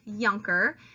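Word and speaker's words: Junker: army the younger class that word that you see here is pronounced Jonker and the yonkers are the German Prussian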